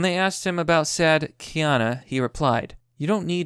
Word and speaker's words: Keanu: Reeves and I know I sometimes I say his name is Ken you but I believe it's Keanu so now that we